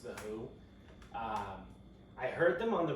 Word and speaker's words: The HU: So it's The HU. I believe it's still pronounced The Who.